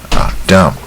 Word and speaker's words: dumb: Dumb 这个字也不难。She was born deaf and dumb 这 B 不发音。She was born deaf and dumb.